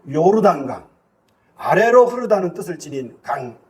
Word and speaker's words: 요르단강: 물이 강인데 그 강이 요단강 정확하게 발음한다면 요르단강 아래로 흐르다 뜻을 지닌